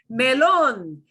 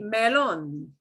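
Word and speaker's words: melón: Melon. Here's something you may want to eat, melon. Melon. Okay, and we've got to punch the last syllable there. We've got an accent mark, right?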